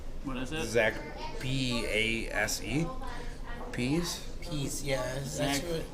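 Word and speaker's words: Pase: name right zach's what is this zach p-a-s-e peace peace yes exactly said peace we apologize in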